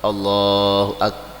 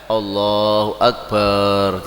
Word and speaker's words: Allahu Akbar: tadi Allahu Akbar Ya Allahu Akbar bar barnya itu bar gitu tidak boleh Allahu Akbar gitu ya itu artinya akan berbeda nah ini ee kalau